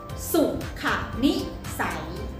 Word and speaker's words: สุขนิสัย: ออก เสียง ว่า อะไร คะ ออก เสียง ว่า สุขนิสัย สุขนิสัย เก่ง มาก ค่ะ เด่น ๆ เลย นะ ฮะ